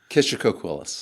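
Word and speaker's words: Kishacoquillas: How do locals pronounce that? Kishocoquillas.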